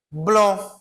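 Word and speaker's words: blanc: Blon. Blon. Eu também não vou pronunciar o C, certo? principalmente quando ele está ligado aqui a uma nasal, né, blon, certo? Onde ele está ligado a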